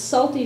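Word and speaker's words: Psalty: And it's Salty spelled like P-S, like the Psalms.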